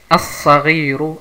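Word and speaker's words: الصغير: Saad ist eine Sonnenbuchstabe und deswegen hat man hier eine Shadda, Verdopplungszeichen, und diese Lam wird nicht ausgesprochen. Also hier Al-Qalamu, hier As-Sagiru, As-Sagiru, Al-Qalamu, As-Sagiru.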